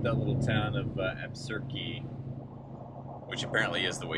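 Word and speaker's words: Absarokee: we hung out that little town of uh absurdky which apparently is the way you pronounce it we got a definitive answer from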